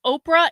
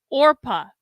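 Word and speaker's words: Orpah: Naruto says, fun fact I recently learned, Oprah is a mispronunciation of her real name, Orpa.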